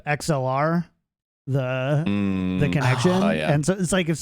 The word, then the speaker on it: XLR: kind of getting tilted every time you say lxr because like that's the common mispronunciation of xlr the the connection yeah